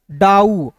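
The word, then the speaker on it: doubt: तो सबसे पहले यहां पे बी टी को साइलेंट यानी कि बी को साइलेंट करेंगे और टी का उच्चारण यहां पे ट के रूप में करेंगे। क्लियर है?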